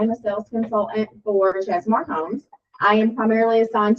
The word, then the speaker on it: Chesmar: Ches just Chesmar home. We're under Sasui House. Okay. So, the brand is Chesmar.